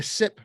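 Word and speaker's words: SYP: out a whole program the Sip program of course everyone loves cool names but it's spelled out s-y-p share your purpose so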